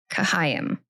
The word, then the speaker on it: Chaim: So I've been saying it like as Chaim in my head or something, but it's Chaim.